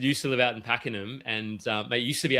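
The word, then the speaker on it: Pakenham: yeah Paul Cook you know I can't pronounce this one. How do you pack him? I remember so I've got a cousin that live used to live out in Packenham and it used to be absolute farmland and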